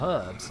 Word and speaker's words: herbs: __ ] ton of herbs. Oh my. And yes, this is a British game. I am definitely pronouncing that correctly. It is herbs with an H.